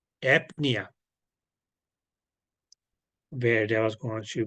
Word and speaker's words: apnea: Because okay, here in apnea, it was AP and then nia.